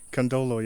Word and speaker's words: Kandolo: Yeah, but Did I say it right? Kandolo, yeah.